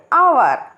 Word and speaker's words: hour: We also say an honest man, an hour, because honest and hour begin with an o vowel sound because the beginning h is silent.